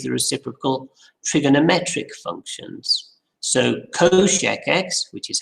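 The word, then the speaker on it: cosech: same way as the reciprocal trigonometric functions so coshecs which is how that's pronounced is one divided by shine x which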